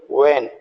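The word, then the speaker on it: when: बोलेंगे जैसे व्ट डब्लू एच टी य एच साइलेंट है तब इसको बोल व्ट डब्लू एच ई एन वेन तो इसको बोल वेन डब्लू एच वाई वाई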